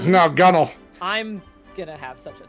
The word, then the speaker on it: gunwale: They're like, no, gunnel.